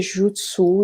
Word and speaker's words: Jyutsu: comme le pays et jutsus il suffit tout simplement de prononcer toutes les lettres et le hub se